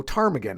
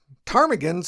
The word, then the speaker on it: ptarmigan: The P was added to the name because early ornithologists just kind of assumed that the word had Greek origins.